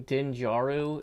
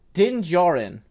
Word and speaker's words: Din Djarin: Din Djaru, is that right? Mandalorian's name, is it Din Djaru? Din Djarin.